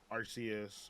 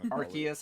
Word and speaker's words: Arceus: right now is uh arceus or archie as well the heck are you arceus i think is how it's pronounced yeah that surprisingly uh